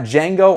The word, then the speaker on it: Django: just want to highlight those then we've got django on 4k are you proud of me i